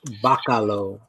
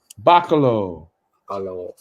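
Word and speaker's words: Bachalo: Pronounced Bacalo. Bacalo.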